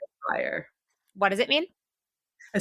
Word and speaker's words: Sharareh: and I'm gonna have people call me by my birth name Shadow day it's not that hard and if we can all say Willem Dafoe and any other white male name that's impossible to pronounce we can all Sayre what does it mean